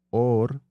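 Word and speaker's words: עור: De hecho, la palabra en hebreo para hablar de or, piel, Ujú, se pronuncia igual que hablar de or, luz.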